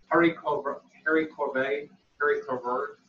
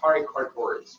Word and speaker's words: haricots verts: Haricots vert. I thought I was going to say it. I used to call it haricots verts, but that's not it.